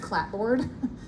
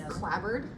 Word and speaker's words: clapboard: had no idea that c a p b o a r d is not pronounced clapboard it's clabbered clabbered sighting sounds I know it sounds wrong um I apparently say toilet